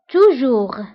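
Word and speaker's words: toujours: دائما توجور. توجور دائما هي توجور ضدها أبدا أو جامي. جامي. دونك توجور ضدها جامي. توجور دائما، جامي أبدا. وانتبهوا بالنسبة لتوجور وجامي فكنكتبوهم بأس آخر الكلمة ولكنها لا تنطق.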